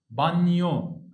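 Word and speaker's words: bagno: جي ان، الجي ما بتتنطقش، ده اول حاجه، وتاني حاجه الان تكسرها. ما اقولش هنا نو، اقول نيو. طب اقرا كده الكلمه دي سهله خالص اهي. يبقى اسمها ايه؟ بانيو. الجي ما فيش خالص.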